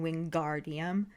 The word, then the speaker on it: Wingardium: she tells him to make the gar nice and long in wingardium yeah yeah as opposed